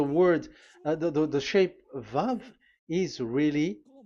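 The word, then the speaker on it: ו: So the word the the the shape vavv is really pronounced vv like vag that is it pronunciation.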